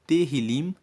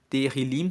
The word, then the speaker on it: Tehillim: O livro de Salmos, no texto original, se chama Tehillim, que se escreve T-E-H-I-L-I-M. Tehillim significa louvores.